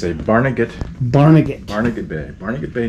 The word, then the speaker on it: Barnegat: here he comes so how do you pronounce this boat nag it's a it's a barnegat barnegat barnega bay barnegat bay new jersey barnegat